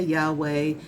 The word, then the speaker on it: Yahweh: Okay, some people say Yahweh, Yahweh. You know, I've heard various pronunciations, but it's YHWH, okay?